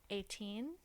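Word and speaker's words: Etain: Attain. It's It's spelled E T A I N. Okay. But I you pronounce it 18.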